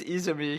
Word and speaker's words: Izumi: And he's like, it's pronounced Izumi.